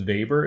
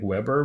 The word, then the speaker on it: Weber: we have this is his name is Weber it looks like Weber but we use the German pronunciation just as an FYI vapors